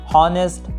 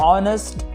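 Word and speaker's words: honest: आप इसे हावर, हॉनेस्ट, Honor और हॉमेज पढ़ने की गलती मत कीजिएगा, बल्कि इसकी सही प्रोनाउंसिएशन होगी आवर, ऑनेस्ट, ऑनर और ऑमेज।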